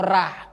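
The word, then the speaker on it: ر: Seperti ra dibacanya ra. Ra itu kalau berbaris di atas hukumnya tafkhim, tebal. Kalau dia berbaris di bawah hukumnya tarkik, tipis.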